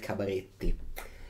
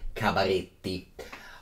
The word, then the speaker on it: Cabaretti: I have to pronounce it Cabaretti. Cabaretti.